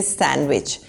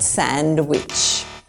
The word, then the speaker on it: sandwich: Once again, the D is not pronounced. We say sandwich, not sandwich.